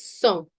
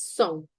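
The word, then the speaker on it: cent: In French, we say it's a nasal sound. We say it as son. Son. T, we do not pronounce it towards the end.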